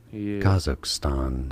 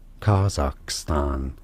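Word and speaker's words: Kazakhstan: tuned to the channel in English it is said as Kaz so that's a stress on the first syllable kazak dude he has 1.5 million subscribers schwar sound here as a second syllable kakan kazakstan now in kazak in the country itself it is said more as kazakstan a clearer a sound all right he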